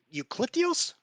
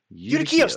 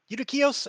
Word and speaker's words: Udakios: Um Eucalyptus, I'm saying his name wrong. I know I am. He was a nice guy. Eucalyptus. Eucalyptus. Udakios. That's it. Udakios.